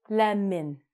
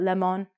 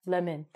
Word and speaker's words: lemon: The next one is lemon, not lemon, lemon.